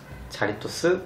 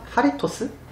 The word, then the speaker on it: Jarritos: 자리토스? 근데 이거 제이는 스페인어로 히응으로 발음하셨나요? 하리토스?